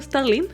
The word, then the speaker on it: Starling: tiene un tiene como un cas bacano, o sea, Claris Star, ay, no se dice Starline, no, o Starlin. Starlin. Starlin.